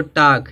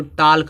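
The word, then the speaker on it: talk: half मान यादा य देखो टाक है लास्ट में के है तो के से पहले क्या आया एल आया है क एल क्या होगा साइलेंट होगा टाक टाकने बात करना बहुत लोग इसको टलक पढ़ते हैं बहुत लोग इसको टाक पढ़ते हैं ना लेकिन गलत पढ़ते हैं क्योंकि जब के से पहले ल आएगा तो के क्या हो जाएगा साइलेंट हो जाएगा इसी तरह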